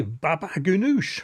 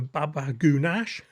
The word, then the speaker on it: baba ghanoush: Okay then, here we go with a baba ghanoush or as I often mispronounce it, a baba ganoush.